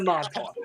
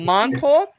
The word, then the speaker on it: Montauk: That's what you're gonna be going into Montauk, all right?